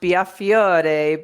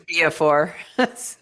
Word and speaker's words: Biafore: Well, you know, it's supposed to be pronounced Biafore, but my parents changed it to Biafore.